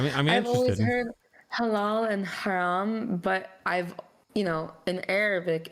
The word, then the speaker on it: haram: like, oh, this is haram, so. Haram Whopper. Yeah, I would say it wrong. Can I get the harem Whopper, please?